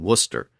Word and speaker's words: Worcester: It's also found in city names like Gloucester and Worcester, which are no longer pronounced like they're spelled.